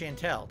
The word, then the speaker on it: Chantel: Spawn Killer did a $1.50 tip and says Chantel says it's pronounced Chantel. That's correct. I read that already. Thank you, Spawn Killer. Chantal.